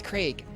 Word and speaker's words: G-raq: cheers thank you g-raq it's q ray g craig craig correct it's craig shoot i'm sorry for